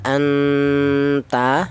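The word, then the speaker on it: أَنْتَ: Kemudian di sini ada anta ya, anta di sini ada nun mati bertemu dengan huruf ta. Ini dibaca ikhfa ya. Nun matinya ini dibaca samar. Jadi artinya ikhfa itu samar.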